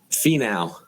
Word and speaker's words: Finau: And then Tony Finau, is that how you pronounce it? Finau.